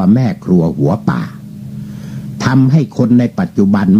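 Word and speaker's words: แม่ครัวหัวป่าก์: นั่น ใส่ ว่า ทำไม เพราะ ว่า การันต์ หมาย ถึง ไม่ ออก เสียง เขา ก็ จะ ออก เสียง ได้ ว่า แม่ ครัว หัว ป่า ทำ ให้ คน ใน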